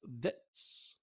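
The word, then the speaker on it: Vidts: V-I-D-T-S, Vitz, Norvitz, Belgium, wins it.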